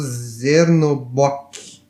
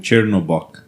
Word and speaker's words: Chernobog: um deus do submundo chamado Zernobok. É Chernobog.